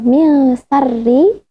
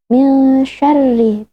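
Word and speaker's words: من شرّ: Bukan min syarri tapi min syarri bil shin.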